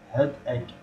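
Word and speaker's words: headache: زين، الثالثة اللي هي إذا نشوف إنه هدأك، هدأك ثالثة، هدأك يعني وجع أو الصداع، هدأك أو وجع الرأس أو الصداع. بالمناسبة هاي الجي اتش تلفظ ك، الرابعة عاني من ارتفاع درجة الحرارة فأتم رجال.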